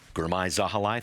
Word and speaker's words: Girmay Zahilay: Also with me, Girmay Zahilay, thank you for being here too. Thank you for pronouncing it right.